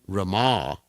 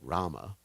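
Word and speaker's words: Ramā: the goddess of Fortune Rama this is important we pronounce that word properly instead of Rama Rama is Lord Ram Rama who was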